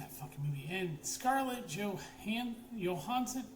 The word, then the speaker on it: Johansson: And Scarlet Johan Johansson, that's how you pronounce her name. Johansson, not Johansson. Danish idiots learn.